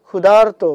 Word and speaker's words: ক্ষুধার্ত: করার সময় এভাবে বলি ক্ষুধার্ত মানে আরটা কিন্তু ভিতরে আমরা হালকাভাবে উচ্চারণ করি এবং এটাকে আমরা এই